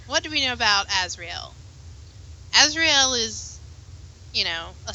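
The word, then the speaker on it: Azriel: Azrael. I say it like Castiel from Supernatural.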